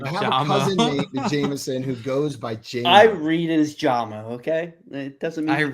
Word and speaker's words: Jameson: It's Jameson. His name is Jameson, not Jamison.